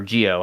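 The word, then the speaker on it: Zi-O: up would be uh zeo or geo harrier you know if you want to go the the correct pronunciation which is the the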